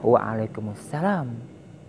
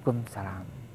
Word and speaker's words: Waalaikumussalam: semiku atau sama alaikum jawabannya Waalaikumussalam bukan kumsalam semoga ini menjadi sebuah